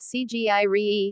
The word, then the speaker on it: Sigiriya: Sigiriya or Sinhagiri, Lion Rock pronounced Cgiri, is an ancient rock